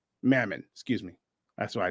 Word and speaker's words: Mammon: have a choice to serve either God or Mana Mammon excuse me that's why I knew I said